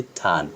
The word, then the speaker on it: turn: Just আপনি এই একটা ওয়ার্ড দেখেন, TURN, আর এর পরে এন রয়েছে, মানে এটা একটা কনসোনেন্ট সাউন্ড, কনসোনেন্ট লেটার, তাই হচ্ছে আমরা এখানে আর উচ্চারণ করি নাই, এই জন্য এটাকে বলেছি টান।